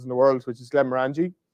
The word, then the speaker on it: Glenmorangie: the world, which is Glenmorangie, or you can argue how you pronounce that. My mate Paul from Glenmorangie will be on to me now. You said that wrong. It's Glenmorangie. And I'm like, I don't care.